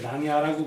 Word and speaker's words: 낭야: 그 지금 남아 있는 낭사대각서, 태산각서, 낭야대각서, 낭야라고 불러요. 낭야, 야라 발음도 있고 사람 발음인데 낭야대각서, 태산각서, 회계각서, 지부각서 이 산각석이 바로 이것이다.